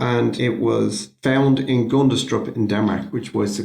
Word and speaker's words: Gundestrup: And there's the Gundestrup cauldron. The what now? Gundestrup. Spell that for me.